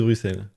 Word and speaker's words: Bruxelles: storage ple pas non ne prononce pas le X de Bruxelles ne faites pas ça